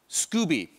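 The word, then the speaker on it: Skoobe: should i pronounce scoba scooby ah like it's in scooby-doo um so scooby is a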